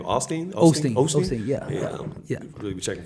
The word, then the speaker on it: Osteen: Osteen, yeah.